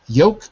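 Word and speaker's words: yolk: that's right that's right yoke folk exactly right yoke folk say that again yoke folk Yol folk that's right if you put in a little L with the folk it's okay but basically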